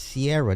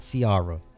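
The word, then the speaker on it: Ciara: It's Sierra, not Siara.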